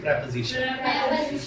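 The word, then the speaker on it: preposition: उसको हमने कहते हैं प्रेपोजिशन। और प्रोनाउंसिएशन ठीक रखिए इसका, प्रेपोजिशन। आप कहते हो प्रीपोजिशन, वो नहीं है, प्रेपोजिशन।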